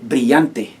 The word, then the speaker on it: brillante: Se dice brillante. Brillante. You have the double L, remember, it makes the Y sound.